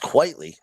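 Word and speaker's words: Quitely: Great Frank Quietly art. Really captures you. I believe it's pronounced quietly.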